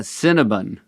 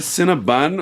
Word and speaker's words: Cinnabon: Is it Cinnabon or Cinnabon? That's the problem. It's bun, right? Cinnabon. But it's spelled with an O. It's B O N. So, I'm sorry. They That's why some people do say Cinnabon, and maybe that's right.